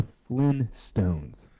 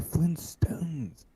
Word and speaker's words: Flintstones: Is it the Flint Stones or the Flynn Stones? It was Flint, like rock. Flint. This one is saying the Flint Stones.